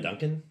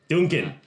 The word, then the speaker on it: Duncan: So we've got a Darrin and a Duncan. Dunekan. Duncan. Okay. See, everyone mispronounces our dwarven names. This is why we're so angry all the Duncan, time.